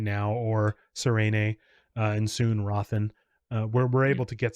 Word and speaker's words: Hrathen: It's Raven with a Like very subtle H sound at the beginning. So Raven. Hrathen. Craven. Hrathen. Raven.